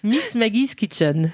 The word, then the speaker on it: Miss Maggie's Kitchen: Eloïse bonjour Alors comment est-ce que je je prononce bien Miss Maggie kitchen Miss Maggie's kitchen com comment dit le nous Miss Maggie's kitchen VO ouis alors on a dû te poser